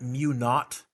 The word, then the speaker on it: mu naught: a zero n times I over l we pronounce that mu naught because the Brits named it zero in Britain is not an a-u-g-h-t so mu naught times n times I over L what is